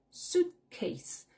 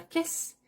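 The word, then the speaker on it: suitcase: l'enlever ma valise my suitce tu accentues la première syllabe suit case tu fais bien attention c'est pas casisse c'est case suitce ne sera pas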